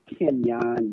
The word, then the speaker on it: Kenyon: well my name is Kenyan yes pronounced that way it's not fancy that's how it's pronounced I'm originally from High